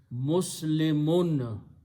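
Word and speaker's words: مسلمون: And the word is pronounced as Muslimun. When we stop, we say Muslim.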